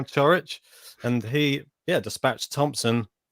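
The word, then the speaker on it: Ćorić: was watching the match umphar was pronouncing it cho rich so i think this is the way i'm gonna be saying it for now churwich and he yeah dispatched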